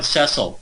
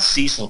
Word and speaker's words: Cecil: Now, before I get to the slaughter of this line, Cecil, it's not Cecil, by the way, it's Cecil. That's how the name is pronounced.